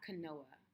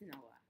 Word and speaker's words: Noah: i'm saying it right i hope it's not kanoa no no it's noah it has to be noah all right so let